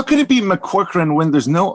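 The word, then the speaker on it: McCaughrean: Geraldine McCorcoran.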